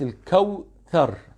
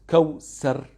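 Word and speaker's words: الكوثر: Please, my children, you should write Al-Kawthar, not Kawsar. It is not Kawsar. It is Kawthar. It is Tha. When you pronounce the letter Tha, we should see your tongue.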